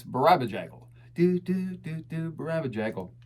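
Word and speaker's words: Barabajagal: I love it when people say, I don't know how to pronounce this word. Play the record. He says it. It's Barabajaggle.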